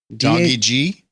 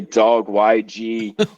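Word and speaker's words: dawgyg: Tommy's known by this how would you pronounce it okay d a w gyg doggy G you're the first person that actually pronounced it right on their first dve most people say dog y g or something like that but it's doggy G does this mean I'm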